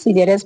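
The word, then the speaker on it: scissors: सी एस आई की sound को pronounce किया गया है। ओके? तो ये क्या है? सिज़ेरस। सीजेरस मींस क्या होता है?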